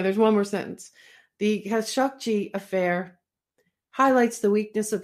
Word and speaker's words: Khashoggi: Yes, that's the way that some Saudis I heard pronouncing it. Khashoggi?